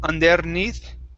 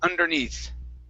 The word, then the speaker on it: underneath: next is uh underneath watch your r there instead of underneath under underneath underneath good good and the